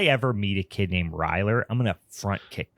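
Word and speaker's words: Ryler: It's like Tyler and Riley mixed. It's Ryer. I would assume that is a joke name. It's got to be. But if if I ever meet a kid named Ryer, I'm going to front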